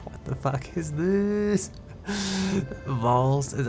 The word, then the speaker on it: valse: Valse, pronounced Vols, with a soft S at the end. Vols. Think of false without the F sound.